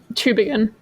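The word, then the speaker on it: Tübingen: But it's a good skull at the University of, is it, Amelia, correct my German pronunciation, Tubingen? It would be Tubingen.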